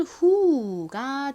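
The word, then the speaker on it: who: 아 소리 중에서 우 소리로 쓰였어요 그래서 연결하면 후가 됩니다 발음해 볼게요 후 후 간단한 단어이지만 정말 정말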